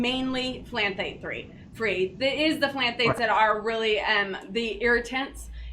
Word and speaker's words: phthalate: The important thing there is that there's an ingredient called a phthalate. It starts with a P, but it's pronounced like it's with a T.